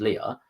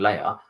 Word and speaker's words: Leia: It's again that kind of like a real-life setting, because a lot of people refer to her as Leah. She likes to be called Leia.